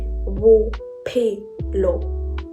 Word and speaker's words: bophelo: P and H is pronounced as P. So these letters are pronounced exactly like the P in the word peach. So say the word peach. So the first sound of P in peach is exactly how we pronounce P in Sepedi.